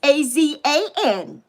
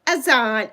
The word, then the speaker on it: Azan: It's an, oh, yes, it's spelled with two A's, A-Z-A-N, Azan. Were you spelling it? Oh, you're spelling it with an O. It's, yeah, Azan, two A's.